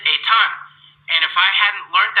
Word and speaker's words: Ethan: So, for example, I have a student whose name is spelled E T H an because of their family background, they don't pronounce it Ethan. He pronounces it a ton.